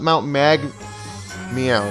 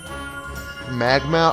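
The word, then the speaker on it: Mount Magmeow: mount mag meow a top mount mag meow not magma I don't know how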